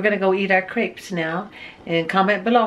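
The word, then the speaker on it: crêpe: And we're going to go eat our crepes now. And comment below how you like yours. And how do you say them again? He'll say it the correct French way.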